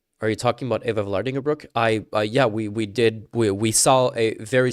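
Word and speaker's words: Eva Vlaardingerbroek: Or to this very country, where wait, it's Eva Vlardingerbroek, not Vlandar Borek.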